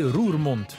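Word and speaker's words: Roermond: bienvenue à rue au monde prononcé rue remonte petite bourgade du bord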